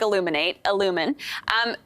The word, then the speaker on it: illumin: So it's like illumin.